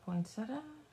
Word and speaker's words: poinsettia: the vein of the poinsetta poia poeta I know how it's spelled but I say it without the eye okay let's move everything